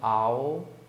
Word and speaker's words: owl: Coruja tem uma pronúncia bem diferente, né? Owl. Imagina que é um cachorro, né? Aí ele tá latindo, owl, owl. É mais ou menos assim.